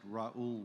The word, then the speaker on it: Raul: world okay yes so my name is rule for the ones that can't pronounce it Raul will do here in